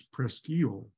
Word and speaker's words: Presque Isle: on it but um is Presque Isle in Pennsylvania which does have a lighthouse but in Michigan it's prestile so you have to